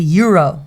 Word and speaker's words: gyro: always go for a gyro and Disney is that how you say it gyro I don't know well that's how I say it too but apparently that's not right it's like a Euro Euro Gyro you have